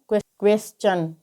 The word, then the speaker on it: question: तो यहाँ पर आप देख सकते हैं कि एस के बाद में TION आया है, तो इस कारण यहाँ पर टी का उच्चारण च होगा। तो QUESTION को हम क्या पढ़ेंगे? क्वेश्चन।